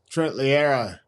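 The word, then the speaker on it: Loiero: I think they're going to bring in Horses, Trent Lura, if I said that right. How do you say his name? Trent Lero.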